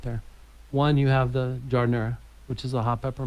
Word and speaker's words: giardiniera: I like how you say it properly too, giardiniera.